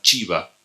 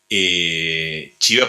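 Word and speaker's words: Csibra: húngaro que se llama chiva se escribe csivra chiva para mí es un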